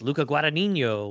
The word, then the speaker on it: Luca Guadagnino: And it's Luca Guadagnino, which is the guy who did. Excellent pronunciation.